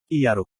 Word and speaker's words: Iyaruk: Iyaruk. Yakult. Pengucapannya mirip dengan minuman 200 won yang dinikmati Grid.